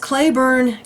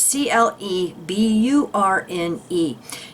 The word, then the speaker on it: Cleburne: his, to please contact, I believe it's pronounced Claiborne County Sheriff's Office, or the prosecuting attorney for that county. It's Cleburne.